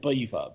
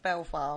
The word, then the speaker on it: Belvoir: Yeah, but it's still not Belvoir.